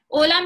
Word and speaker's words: hola: And H is silent. So you say O and then LA would be la. O, la. Right? Hola means hi, how are you?